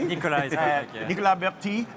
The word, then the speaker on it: Nicolas: And I have Nicolas, so I say Nicolas and pronounce it correctly. Nicolas is perfect, yeah.